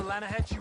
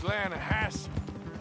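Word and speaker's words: Lannahechee: The other day, I rode down to the Lanahatchee River. I caught some beautiful steelhead trout. You mean the Lanahassee River? No. The Lanahatchee. It runs right near here. Yeah, but it's pronounced Lanahassee.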